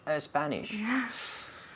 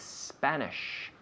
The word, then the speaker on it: Spanish: good because i'm worried i'm worried about a few people at home saying speak a spanish speak spanish remember the s starts here not in the vocal cords it starts here speaks spanish okay uh do most